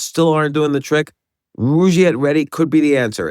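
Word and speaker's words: Rugiet: And Rouette is spelled R U G like rug and IE T.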